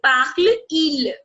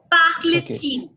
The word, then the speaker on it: parle-t-il: Comme ici, vous avez parle-il. There is a pause. Parle-il. Yes. There is a problem with the Yeah. pronunciation. So just to Yeah. make your pronunciation, fluent, you're going to Yeah. add T. Parle-t-il.